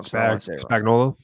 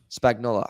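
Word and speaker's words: Spagnuolo: name again it's S I always say it wrong spola Spagnola I always say that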